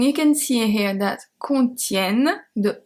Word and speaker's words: contiennent: And you can see here that contiennent, the E is pronounced as a E because it's before two consonants.